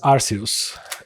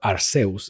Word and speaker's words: Arceus: So if you play the Pokemon Legends Arceus, or Arceus, depends on how you want to pronounce it.